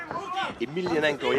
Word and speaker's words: Emelianenko: Emelianenko, yeah, that's the way you pronounce it.